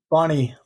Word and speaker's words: Boni: Bonnie.